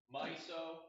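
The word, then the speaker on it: MISO: c and s clock and that's how you pronounce my so most es la myself is a mnemonic it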